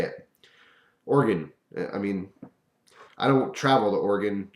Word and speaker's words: Oregon: People are constantly correcting me because I want to say Oregon. And I know that's not how you say it.